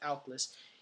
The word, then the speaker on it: Aklys: So next we run 3 Aklys. Yeah, that's how you pronounce it, Aklys.